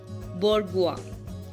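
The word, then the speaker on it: bourgeois: S silent तब होता है जब एस के आगे आई होता है। ओके, वर्ड्स हैं आइलैंड, आयल, डेब्री एंड बोर्गुआ। इन सब में एस साइलेंट है, कंप्लीटली साइलेंट है।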